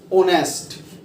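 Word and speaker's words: honest: अब जैसे कि मैं बोलूं ओनेस्ट, तो इसमें एच आया हुआ है और एच होता है कॉन्सोनेंट, तो इससे पहले ए नहीं लगेगा। इसका उच्चारण देखिए, ओनेस्ट, ओ की आवाज आई, और ओ वोविल होता है, इसलिए इससे पहले लगेगा एन।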